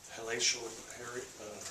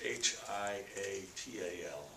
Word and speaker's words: hiatal: had a endoscopy, I believe is how you pronounce it, this morning, and it showed a halacial hernia. Is that how you're supposed to say that? Yes, sir. And so that explains his acid reflux endoscopy. It's HIATAL, halacial hernia, which is more than likely the